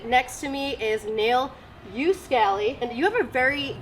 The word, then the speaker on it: Uskali: In Finland, they pronounce it Uskali, but I pronounce it Uskali.